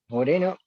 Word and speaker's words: Moreno: Eh, Moreno is good. Moreno. Yeah, the R sounds like a D almost, Really?